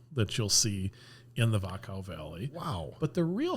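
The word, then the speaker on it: Wachau: day you spend in a place called The vakka Valley and vakka is spelled w a c h Au okay and it's kind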